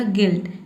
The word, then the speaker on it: गिल्ट: तो यहाँ पे इसीलिए देखिए एल को हम आधा ल पढ़ रहे हैं और जो दूसरा कॉन्सोनेंट है टी है इसको पूरा ट पढ़ रहे हैं, तब इसका प्रोनाउंसिएशन क्या हो जाएगा, गिल्ट। गिल्ट का मतलब होता है अपराध।